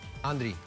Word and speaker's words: Andrick: ¿Cómo se pronuncia tu nombre? Andri.